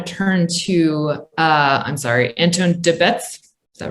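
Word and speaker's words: Antoon De Baets: i want to turn to uh i'm sorry anton de bets is that right yeah good afternoon uh my name is anton the bats that's the correct pronunciation but i do not blame you because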